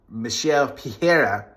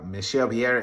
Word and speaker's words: Michel Pereira: Another big win for Michel Pereira. That's how you say it. Michel Pereira.